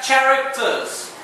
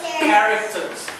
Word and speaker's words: characters: CH makes a cha sound. But when you say this word, you say characters. No, Okay, so you pronounce that characters.